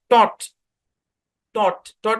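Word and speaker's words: taught: আছে কিনা বলেন আছে তাহলে জি এ সাইলেন্ট তাহলে যদি জি যদি সাইলেন্ট হয় তাহলে শব্দের উচ্চারণ কি হবে ট ইউ এর উচ্চারণ কি ভাই অ ট ট ট মানে কি একটা ভার্ব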